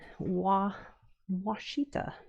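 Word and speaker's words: Ouachita: t a I always thought it was called wittita like a w a but so it's actually wittita. Interesting. I've always heard it pronounced, but I've never actually seen it spelled,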